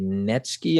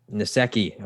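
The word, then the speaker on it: Nsekhe: They lost wide receiver John Brown, tackle Ty Netsky. I don't know how to pronounce his name. Nasecki.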